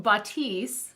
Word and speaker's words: Bathys: Bathys. Take a bath. Yeah. So Bathys.